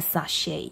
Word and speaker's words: sachet: 关系啊，所以 sh 是念 sh，OK，okay，不是念 ch。A sachet 啊，那个 t 哦没有发音。OK，next one。